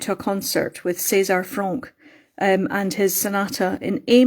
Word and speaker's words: Franck: César Franck, or Franck, depends on whether you want to pronounce it in a French way.